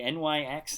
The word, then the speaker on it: Nyx: I've heard people say NYX, and I've heard people say Nyx 3, the first X-23. However you decide to pronounce it, we also traded one of those in.